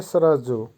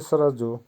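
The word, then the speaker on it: сразу: সরাজু, সরাজুর অর্থ হবে সোজাসুজি বা এখনই। উচ্চারণ হবে সরাজু। আবারও বলছি সরাজু।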